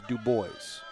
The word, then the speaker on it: Dubois: Runners on the corners D boys will take second base without a throw and it is spelled like Dubois but I am told it it is she prefers do boys so that's what I